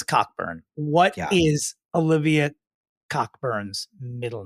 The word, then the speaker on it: Cockburn: very connected for sure Olivia Coburn pronounced on this broadcast as cockburn what is Olivia cockburn's